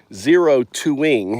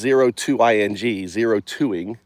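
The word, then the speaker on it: O2ing: Really, 0-2ing, it's 0-2-ing, 0-2ing, right? That's how you pronounce it, 0-2ing, is what Alan Watts did to humans.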